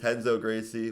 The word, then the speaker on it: Renzo Gracie: Like Renzo Gracie fair. is Henzo Gracie.